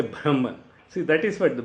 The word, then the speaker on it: Brahman: Even the primordial power, the Brahman, because we say Brahma, Brahma, as per the current Sanskrit pronunciation is Brahman. The ha should come.